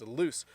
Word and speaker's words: loose: this my belt is loose my belt is loose because I walk a and I'm starting to lose weight so notice the difference in meaning and pronunciation between the two my belt is loose